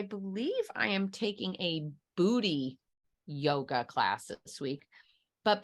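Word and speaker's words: Buti: the last time but she said it's spelled b-u-t-i but she said it's pronounced booty and it might as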